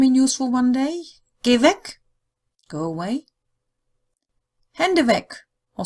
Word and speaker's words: Weg: So to put it all together again, if the three-letter word WEG in German means the way, then you pronounce it with a long E, Weg. If it means away, you pronounce it with a short E, Weg.